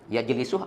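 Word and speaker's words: يجلس: Misal, kita punya kosakata fi'il mudhari' yajlisu. Yajlisu. Ini guru saya dulu menyarankan ke saya dihafal dengan maknanya. Yajlisu artinya duduk. Cara bacanya dibenarkan supaya cocok dengan wazannya. Yajlisu ini wazannya adalah yaf'ilu.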